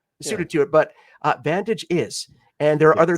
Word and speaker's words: Vantage: Ventagi. It's a open world in space. Vantage. Yeah. Sorry. Is it Vantage? I'm sorry, but the pronunciation was uh lost on me.